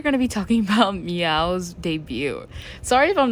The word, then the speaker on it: MEOVV: e oov v and like the VV I think it's supposed to be like a w and the way I've heard them pronounce it is like meow but I don't know